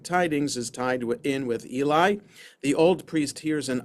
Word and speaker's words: Eli: Events that happen to Eli that also happen to, it's actually Eli, that's how it's pronounced in Hebrew.